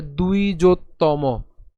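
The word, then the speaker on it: দ্বিজোত্তম: এর মতই হবে কিন্তু এখানে যে অন্তস্থ ব রয়েছে তার উচ্চারণ কার মত হবে উ এর মত হবে ঠিক আছে তাহলে এখানে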